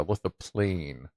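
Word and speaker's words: lithophane: Lithoplane. That might plane. Lithoplane. Oh, okay. Plane, not graph. Okay, yeah, I guess graph would involve ink for graph. Plane would be a flat. Okay, yeah, lithoplane.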